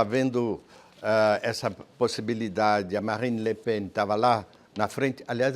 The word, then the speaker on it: Le Pen: Estava havendo essa possibilidade, a Marine Le Pen estava lá na frente. Aliás, eu queria fazer um pequeno parêntese. Se pronuncia Le Pen, porque tem muita gente que